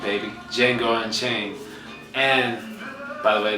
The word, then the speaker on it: Django: D is silent, baby. Django Unchained.